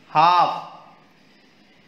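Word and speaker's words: half: L silent new के silent com यर B silent हाफ L silent knit यर इ के silent Tom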